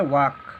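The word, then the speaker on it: walk: ये वाल्क हो जाएगा, लेकिन ये वाल्क गलत होता है। इसका प्रोनाउंसिएशन क्या होता है, वाक।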